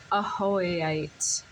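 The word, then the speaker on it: Ajoite: here it is it it is a a different pronunciation with the J pronounced a hoite it's a very high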